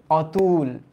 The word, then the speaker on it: অতুল: তাইলে এইটার উচ্চারণও তো অ এর মতোই হলো, অতুল।